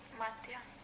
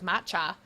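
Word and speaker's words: Matija: So, when I'm talking about her to my mom, after pronouncing her name wrong 18 times in a row where it goes Matcha, and her name's not Matcha, I've been calling her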